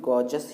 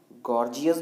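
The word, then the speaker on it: gorgeous: इसको हम इंग्लिश में गॉर्जस ही बोलते हैं। कई लोग इसको गॉर्जियस भी बोलते हैं, तो गॉर्जियस जो है वो गलत होता है, गॉर्जस सही होता है।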